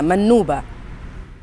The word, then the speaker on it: منوبة: أيضا هي مدينة ذات طابع فلاحي، مدينة ذات طابع فلاحي، وبالتالي الاستحقاق الفلاحي أو تعصير هي منوبة. بلال، فقط حتى نؤكد النطق الصحيح لمشاهدينا، منوبة. منوبة، نعم.